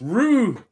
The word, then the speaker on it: Rook: v that is right the k is silent you see what i